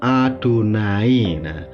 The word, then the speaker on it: YHWH: ya Wena uniknya guys orang Ibrani itu tidak berani membaca yhwh itu dengan kata Yahweh karena mereka sangat menghormati nama Allah ternama yahwi ini sehingga kalau ada kata yhwh orang Yahudi itu membacanya dengan nama adonai kata Ibrani yhwh atau